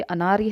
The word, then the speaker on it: अनार्य: ठीक है, ये उच्चारण करना आपको आना चाहिए। ये अनार्य है और ये अर्नाय है।